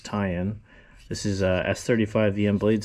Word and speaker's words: Ti'an: I know some people pronounce it Titan, but it's tie-in.